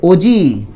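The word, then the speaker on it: ogive: इसके आप लोग ओगी बोलते होंगे, ये गलत प्रोनाउंसिएशन है, ग्रीक वर्ड है, तो ये ओजी है।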